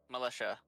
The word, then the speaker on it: militia: Militia. Militia. There is no H, there is no S. That's Boy, how TIA is pronounced as militia.